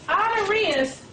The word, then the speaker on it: Honorius: second or Pope honorius which is spelled ho o n o r i u s and I'm spelling it out because it doesn't really sound like it's spelled ordained the Templars as the